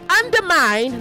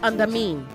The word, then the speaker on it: undermine: Say undermine, not under mean. Undermine, not under mean.